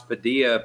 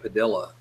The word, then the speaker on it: Padilha: bestest one they go and they try to pronounce Padilla Padilha padilha yeah mister padilha miss Padilla India yeah